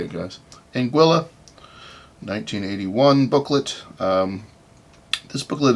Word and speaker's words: Anguilla: finally looked up how to say it guys Anguilla 1981 booklet um this booklet is number 444